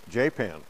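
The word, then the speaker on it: Japan: It's spelled J-A-P-A-N, J-Pan.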